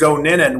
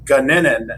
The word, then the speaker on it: Goninen: Proper pronunciation is Goninen. We actually say it as Guninen, and so we actually say it wrong.